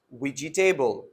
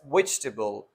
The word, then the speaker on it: vegetable: word which is very common vegetable people do pronounce it ouija table it should be pronounced as vegetable why because we have a dropped wall which